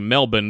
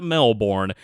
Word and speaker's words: Melbourne: when I say the name of the city Melbourne that is not me and American trying to